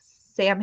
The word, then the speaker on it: Samhain: so you know if you're not familiar it's spelled like Sam ha s a m h a i n